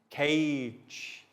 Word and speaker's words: cage: s and now for soft g sounds cage giraffe giant stage page notice how the g sounds like j and this is what